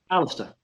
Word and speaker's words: Alastair: is it Alistair or Alistair how do you pronounce it Alistair Alistair okay um Alistair from uh the